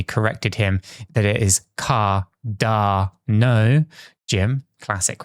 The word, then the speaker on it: Cardano: A while back, Cramer totally butchered Cardano's name, calling it Cardanzos, something that I can't even mispronounce it the way that he does it.